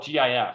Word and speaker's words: GIF: Graphics so clearly it's GIF I said the guy who designed it says it's pronounced like the peanut butter but most people pronounce